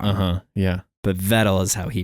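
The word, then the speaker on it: Vettel: where I got it wrong uhuh yeah but vettle is he pronounces it yeah so yeah but yeah I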